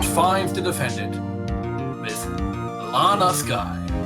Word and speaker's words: Skye: that's the last wait it's actually pronounced sky you're getting anal about